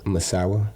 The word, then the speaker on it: Misawa: lived in Misawa how do you say that Misawa Misawa yeah and uh what was your favorite